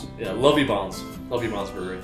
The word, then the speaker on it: Lovibonds: How do you pronounce it? Yeah, LOVIBONDS Brewing.